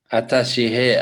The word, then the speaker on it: Ataşehir: pseudonym there's one more which is atashi here atashi here ah that's how you pronounce it yeah it's just that little s